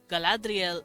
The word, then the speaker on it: Galadriel: language uh for instance the name Galadriel Galadriel is the name of a lovely Elvish woman uh and that is exactly how you pronounce it uh his R's were